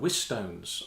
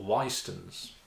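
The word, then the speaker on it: Whitstones: this series of videos called with stones or with stones or why stones it's spelled WH IT or es depending on who you refer to so that's an interesting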